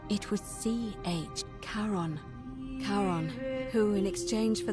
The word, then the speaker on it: Charon: Only your pronunciation... It was C-H. Charon.